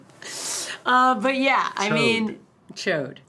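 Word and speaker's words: Chaud: but yeah I mean chode just chode I mean that's how it's spelled it's c-h-a-u-d is is the D silent I mean I don't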